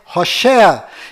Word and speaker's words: Hoshea: Mas a pronúncia correta de Oséias é Hoshea.